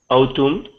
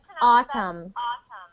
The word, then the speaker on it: autumn: this word for me autum so we pronounce that autumn autum autumn good good